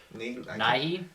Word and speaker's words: Nighy: Nighy? Nighy, is that how you pronounce his name?